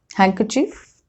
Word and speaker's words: handkerchief: It is not pronounced in some common words like this: handkerchief, Wednesday, sandwich, handsome. Okay, so in all these 4 words, D has been silent.